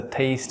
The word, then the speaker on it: taste: I'd like to test the taste of these tasty toasts. আমরা আজকে তিনটি শব্দের প্রোনাউন্সিয়েশন নিয়ে কথা বলবো।